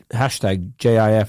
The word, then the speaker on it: GIF: peanut butter that has a label humorously declaring the soft G pronunciation to exclusively refer the peanut butter and gift to be exclusively pronounced with the hard G pronunciation so presuming that coding